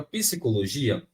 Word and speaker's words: psicologia: tracinho aqui né Eh só que aí deixar esse P mudo gente pensa aqui comigo é só uma questão de lógica é psicologia psicologia né psicologia nesse caso aqui